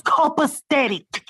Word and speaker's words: copacetic: whatever you don't think it's called state it's copacetic copacetic i don't know if that's a real